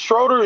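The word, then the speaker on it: Schröder: do yup Dennis Dennis Dennis uh what Dennis Schroeder is that how you pronounce his last name yeah yeah you you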